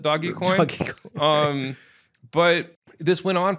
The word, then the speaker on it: Dogecoin: it doesn't do anything it's called by the way it's Dogecoin that's you know I'm the pronounce it right yeah yeah I think I don't know how he pronounced it on a text maybe he even spelled it doggy coin um but this